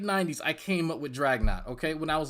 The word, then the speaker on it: Dragnauct: average plant no when i was playing pokemon in north carolina i was like 13 14 whatever anyway anyway drag not like it's all for naught it's not that hard